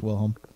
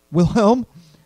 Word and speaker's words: Wilhelm: as she turned towards will home and you are her and asked as she placed a handout will Holmes die Wilhelm he all but yelled the second syllable of his name you don't sound German